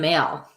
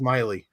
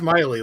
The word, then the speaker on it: Maile: and say you're male bring it on it's actually pronounced miley oh who what it's miley like miley cyrus that's pronounced but everybody